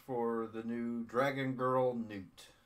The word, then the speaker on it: Nuut: the new dragon girl, Nuut. I know how it looks like it's spelled nut, but it's supposed to be Nuut.